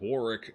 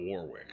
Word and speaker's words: Warwick: uh also nitpick but because British is dumb it's pronounced Warick not Warwick just like how we're